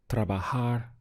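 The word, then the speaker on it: trabajar: verb to work is we have three syllables TR trahar means to work how would you say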